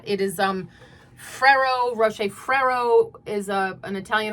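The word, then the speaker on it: Ferrero Rocher: Oh, also it is Fero Rocher. That's how to pronounce that. It is um Fero Rocher.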